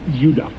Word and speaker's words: Judah: Neanderthals called Benjamin and Judah more properly pronounced Judah because we didn't get the harder sound to the J until about 200 years ago so what's the first